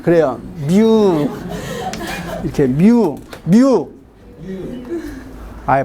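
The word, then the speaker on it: μ: 이렇게 뮤. 아예 발음해봐.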